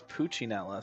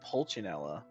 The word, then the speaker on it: Pulcinella: I thought it was Puccinella. Since when is it Pulcinella? Have we been saying it wrong this whole time?